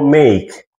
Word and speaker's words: make: M el dictongo e y la K. Recordemos que la e final es muda, no existe, no hay pronunciación para las e finales después de consonante.